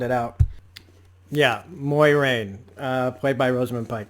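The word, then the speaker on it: Moiraine: i kept having to sound it out yeah moyrane uh played by rosamund pike that's how you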